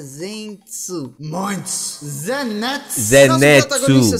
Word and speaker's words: Zenitsu: pronuncia Zenitsu.